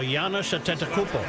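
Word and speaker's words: Giannis Antetokounmpo: just call him The Greek Freak Manny can pronounce his name yes Giannis attento oh Yan atento yeah actually Joe that's pretty good you actually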